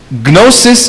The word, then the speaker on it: gnosis: good I don't know gnosis in Greek absent kunafa Killman gnosis in greek means to know that's why it has the G which is equivalent to the K which we don't pronounce so it's no because